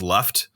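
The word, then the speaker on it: Lufgt: the beginning yeah yeah it's like l-u-g-f-t like look like left i imagine it'd be pronounced left but i don't know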